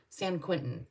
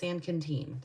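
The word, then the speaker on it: San Quintín: our second de destination was San Canen and it's spelled s n Qi n t Qi n t i n San Quinton but it's sanen so I was a little confused I was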